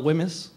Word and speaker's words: WHMIS: learned how to spell Wemyss before I could spell my own name. This is a test now for you guys. How do you spell it? It was the silent H that always got me.